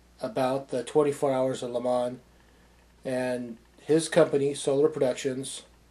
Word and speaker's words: Le Mans: I know it says Le Mans, but the proper way to say it is like if you're in France, Le Mans.